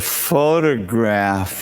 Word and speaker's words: photograph: The first syllable is stressed. There's a photograph of it. Photograph.